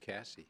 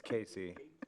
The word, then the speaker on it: Casey: I think Cassie should still be chair. I'd second that motion. I I have to um say you didn't pronounce my name right. So yeah. So it's Casey.